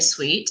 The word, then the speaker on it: suite: the penthouse suite okay attention with the pronunciation of this word okay it's got the final E so this time we will pronounce suite okay and it's the same pronunciation of suite yeah like a candy something that you eat absolutely so lets